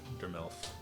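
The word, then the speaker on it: Durmlif: Durmelf. So spell that one more time.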